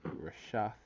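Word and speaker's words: רֶשֶׁת: When you get the the Hebrew word for the word net, alright, which is the Strong H7568 concordance number, and it's pronounced Rashath.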